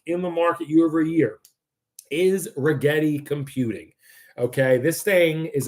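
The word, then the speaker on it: Rigetti: at the three leaders rhymes with spaghetti. I talked about this yesterday on spaces 2. Number one stock in the market year-over-year is Regetti Computing.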